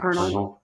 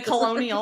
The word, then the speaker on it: Colonel: Colonel. The Colonel. It's spelled weird, so I want to say it the way it's spelled, and I know it's not right. The Colonel. The Colonial or whatever.